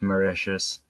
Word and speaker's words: Mauritius: That it is called Mauritius. Mauritius.